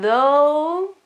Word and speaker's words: though: and out, and then though, so pronunciation is different, the TH sound is, well, mild, and then the vowel is more open, though, it means however,